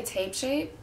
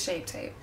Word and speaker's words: Shape Tape: just using my tart I always get this name wrong shape tape I always say tape shape but like it's yeah it's shape tape and this is in